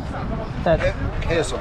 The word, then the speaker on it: chasm: Chasm. Chasm. Okay. And Spelled CH, but pronounced with a K.